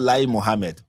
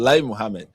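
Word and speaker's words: Lai Mohammed: of information is called lie Muhammad. I kid you not. The former minister of information in Nigeria was actually called Li Muhammad. But okay, the lie is spelled differently but pronounced the same.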